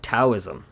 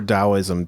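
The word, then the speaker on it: Taoism: actually the founder of taism which is practiced uh uh you know not exclusively but very exclusively I'd like to say in Asia or dosm depending on how you pronounce or DSM too yeah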